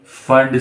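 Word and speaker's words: Pfund: हम नाम देंगे पी फंड सीरीज का। ओके, पी जो है वो यहाँ पे साइलेंट मानेंगे, तो पी फंड सीरीज जो है वो 5वें नंबर पर हमको मिलेगी।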